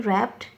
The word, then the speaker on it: wrapped: Here W is silent in wrapped, W is silent in wrist, and T is silent in watch.